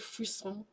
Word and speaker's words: frisson: Do you get frisson? Oh, have you heard that? Bless so yes, bless me. It's spelled like Frisian, like Frisson, but it's like a French word, frisson.